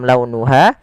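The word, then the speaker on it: لَوْنُهَا: Kemudian pelafal launuha, lembutkan pelafalannya dalam launuha karena ada huruf waw yang sukun didahului dengan fathah. Ha ada mad tabi'i, panjangnya 2 harokat.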